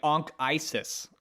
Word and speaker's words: Anchises: His name, Anchises, if you pronounce it correctly, is probably Anchises. Like Ankh? Like Ankh-Isis, almost. Ankh-Isis?